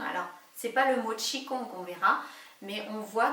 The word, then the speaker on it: Qi Gong: parce que peuvent dire les deux mots tchi kong que l'on écrit d'ailleurs chi gong en français mais que l'on prononce tchi kong et bien les deux